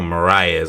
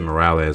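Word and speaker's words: Moraes: his 18 wins by so it's Adriano maras I'm sorry I said marz ear earli in the video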